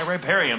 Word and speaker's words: riparium: Riparium with an I. I'm like, we've been saying rape a lot. Riparium. That's very different. That's a very different hobby.